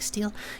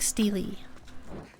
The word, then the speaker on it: stele: Before you had to pronounce, you thought it was sort of like steel. Yeah. I was taking sort of a guess in between the two of them, actually, yeah. Like steely.